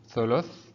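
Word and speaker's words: ثلث: Thuluth. Thuluth means third. We have here tha, which is in the red color. Above it there is dhamma, thu, thuluth.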